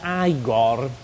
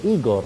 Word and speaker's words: Igor: devi essere Igor no si pronuncia aigor ma mi hanno detto che si dice Igor Beh hanno sbagliato non